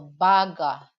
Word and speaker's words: baga: So you have to pronounce it with different tune. Okay, different tune, because if you're gonna